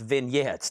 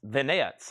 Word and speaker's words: vignettes: for the next moment, it's pronounced vignettes. Thank you. I struggle with that word. It's not like I can't say vanets. It's just I forget that's how it's pronounced. Some of these words, it's like, Chad, it's vanettes.